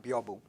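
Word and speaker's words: 屏風: biombo is derived from, byobu. Biombo is a Hispanicized pronunciation of the Japanese term byobu.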